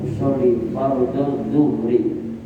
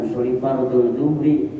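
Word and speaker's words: أصلي فرض الظهر: Usoli fard zuhri usoli fardus subhi jangan sampai bacanya usoli fardul zuhri usoli fardul suhri. salah nanti ehli untuk membedakan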